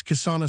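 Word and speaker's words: किसान: When a word ends in a preceded by a single uncompounded consonant, the A is not pronounced. Thus kisana sounded kisan.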